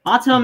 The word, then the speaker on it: autumn: Autumn and column, you don't pronounce the N at the end.